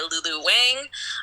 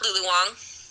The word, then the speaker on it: Lulu Wang: It is The Farewell directed by Lulu Wang, um, starring Aquafina. This movie, La Lulu Wong.